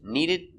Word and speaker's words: needed: right away pronunciation changes needed to see needed is a stop d link with the next sound remember not to but